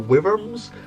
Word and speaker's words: wyrm: yes, we do exist, who call them either worms or wyrms, and that is mostly because it's spelt like this. I will pronounce it wyrm just to make it obvious and penetrate your head, but yes, they have no legs, no wings.